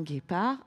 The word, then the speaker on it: guépard: Le G et le U s'accrochent ensemble pour faire le son G. Un guépard, un guide, une guêpe.